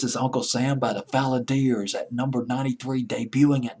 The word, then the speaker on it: Valadiers: I'm hoping I pronounced that right. It's Valadiers. Valadiers.